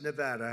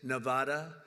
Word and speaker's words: Nevada: And don't ever mispronounce the name. You're not allowed to do that, Joe. You mispronounce the name, you got a problem. You ever see somebody when they say it's Nevada? Nevada? No, they're in deep trouble.